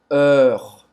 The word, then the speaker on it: heure: Heure, heure. Você vai fazer a boca do O aberto e vai falar E aberto, tá? E depois vai falar esse R.